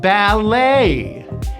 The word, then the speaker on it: ballet: A, and the stress is on the second syllable. Ballet.